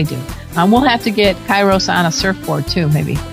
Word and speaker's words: Kairos: Kairos? Did I read it right this time? Kai. It's like Egypt with an S.